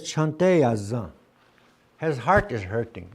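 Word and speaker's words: cante yazan: But it's spelled as c e n t e y a z a n. C The letter c is always a ch c h sound. Ch. Always. Always. Always. Always. So heartily Remember heartburn?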